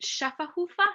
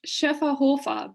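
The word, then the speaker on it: Schöfferhofer: Is it Schafferhofer? No. It's Schäferhofer, but if you want to just make it easy on yourself, just say Schäffi.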